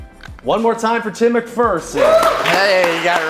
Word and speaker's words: McPherson: LinkedIn again Tim McPherson you pronounce it McPherson but there is no fear in a McPherson that that was one